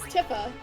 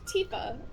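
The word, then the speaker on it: Tifa: original Final Fantasy 7 I pronounced her as tiffa because in the original Final Fantasy 7 there was no voice acting and I didn't know to pronounce the I like an e so it wasn't until evident children came out where it was like oh her name is pronounced Tia okay then I started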